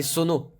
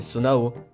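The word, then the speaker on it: Zonai: Depuis des années j'appelais ça des sonos, alors qu'en fait c'est Sonao.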